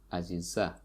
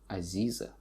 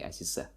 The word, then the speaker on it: Aziza: So Aziza here, as you can see, the stress falls on the last syllable, Aziza. And in Russian they say Aziza, so it's E instead of A, Aziza. But here in Tajikistan we just say Aziza.